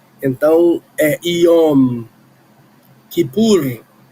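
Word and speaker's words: יום: que pu, mas a a letra M final tem que ser pronunciada porque senão é outra coisa. Éom. Quando a a em hebraico, quando a palavra termina com M, a gente fecha a boca, iom.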